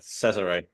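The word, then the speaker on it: Cesare: you pronounce his name is it Caesar C Cesar yeah okay Cesar love that I might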